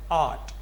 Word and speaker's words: art: AR's points of see this word is art this R is not pronounced what art is not